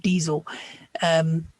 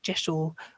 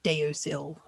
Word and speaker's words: deosil: was actually diesel, or almost sounds like diesel. So that would be a legitimate pronunciation. But most people in the pagan world pronounce it Jeshel or even Josel. So it is not pronounced deosil.